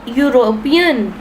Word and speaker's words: European: The following words begin with vowel letters but are pronounced with consonant sounds. They thereby take a before them.